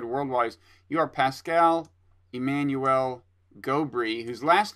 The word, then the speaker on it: Gobry: just explained to me, in French, all syllables are evenly accented in words, and I don't think I'm capable of that. I don't. It's either Gobry or Gobry.